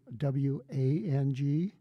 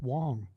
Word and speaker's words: Wang: you see the word w a n g we pronounce it in the United States they say Wang and not in my dialect it's Wong okay and it's not